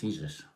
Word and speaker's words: Jesus: Pronounced Jesus like Jose.